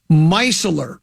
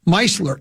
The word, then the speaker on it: micellar: MICKELLAR Keymouse. No, micellar, Micellar. I've never heard of such a thing before. I've heard of Evian water. I've heard of distilled water. MICE. Yeah, it's pronounced micellar.